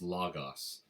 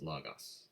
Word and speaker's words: logos: uses in Greek is logos. We would write that phonetically logos, logos. Depending on who teaches you Greek, you might hear somebody say logos. It doesn't matter. It's okay. Okay, that idea, logos, the word, that's a Plato argument.